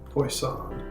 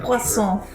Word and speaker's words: Poisson: Poison. What's a fish potion doing? French joke of the day. Although I mangled the pronunciation. Poisson. It's spelled like poison.